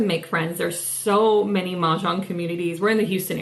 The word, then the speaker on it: Mahjong: Mahjong.